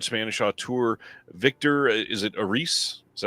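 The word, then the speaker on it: Erice: Over the 3 decades after the release of his previous film, the revered Spanish auteur Victor, is it Aris? Is that how you say it, Will? Aris.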